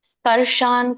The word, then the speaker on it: ಸ್ಪರ್ಶಾನ್: ಸ್ಪರ್ಶಾನ್, ಸಕೆ ಪವತ್ತಿದೆ, ಶಕೆ ಅರ್ಕಾವಳಿ, ಶ ಸ್ಪರ್ಶಾನ್, ನಕೆ ವ್ಯಂಜನ ಇದೆ, ಸ್ಪರ್ಶಾನ್.